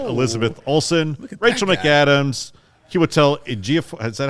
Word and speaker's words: Ejiofor: Sorcerer Supreme, opposite Elizabeth Olsen, Rachel McAdams, Chiwetel Ejiofor. Is that how you say it? Yes. Yeah. Well done. Ejiofor, actually.